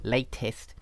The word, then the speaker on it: latest: And she was asking, is the ist part, as in latest, pronounced with the vowel I, okay, or is it pronounced with a schwa, the sound or are they both correct? Well, the simple answer is that they are both correct.